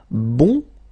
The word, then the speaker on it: bon: Okay, so the sound is changing quite much because here you've got this nasal, bon, okay, and then bon, okay, bon, bon.